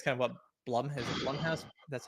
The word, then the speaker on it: Blumhouse: same thing is kind of what Blum has Blumhouse, that's how you pronounce it, Blumhouse has been doing, making some horror games recently."